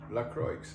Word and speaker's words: LaCroix: it was yesterday because we thought it was um French and fancy but it's actually LaCroix yeah I'm gonna dig